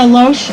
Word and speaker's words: Loesch: And the video that they just recently published with Dana Loesch, I think that's how you pronounce her name, is Loesch? I think it's Loesch. Loesch, whatever.